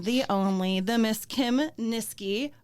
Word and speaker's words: Niskey: only the Miss Kim nisi rhymes with whiskey and even though Kim